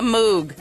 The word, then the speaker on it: Moog: congratulations on consigning the Moog okay that how you pronounce it moo okay thank you all